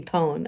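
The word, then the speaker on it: pwn: I should add that TWN is pronounced like own, but with a P, pone.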